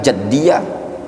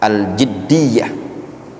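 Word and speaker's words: al-jiddiyah: Nah, itu bacanya bukan jaddiyah atau juddiyah tapi aljiddiyah.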